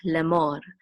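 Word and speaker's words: לֵאמֹר: which is mo, and the resh is part of that syllable, so it's mor, lemor.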